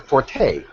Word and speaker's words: forte: A lot of you may not have heard my explanation of this, but the word forte, right? We generally say, that's not my forte in something, but the word is actually pronounced fort.